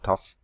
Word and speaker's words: Thoth: Australian ibis, virtually identical to the sacred white ibis of Egypt, which was Thoth, some tough, different pronunciations. I prefer Thoth.